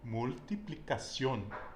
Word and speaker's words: multiplicación: Multiplicación. Multiplicación. Okay? So we always want to pronounce the vowels and every consonant in Espanol with the exception of H.